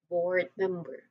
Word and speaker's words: board member: Both board and me. You know the first syllable of the second word. It um they both receive stress. But board usually has a slightly longer emphasis. So board member.